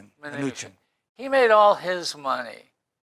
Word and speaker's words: Mnuchin: You need the Secretary of Treasury is how do you pronounce his name? Mnuchin.